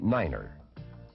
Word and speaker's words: niner: to represent these letters nine is the only number pronounced differently it is said as Niner the key to good